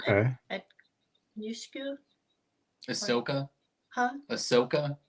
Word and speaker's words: Ahsoka: Yushku? Ahsoka? Huh? Ahsoka? Ahsoka, that one.